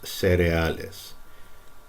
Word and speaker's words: cereales: This should really, EA should really be pronounced separately. Cereales. These, but by many speakers, those two letters are pronounced as if this first E were an I, cereales. But I accept it either way if you said it cereales or cereales.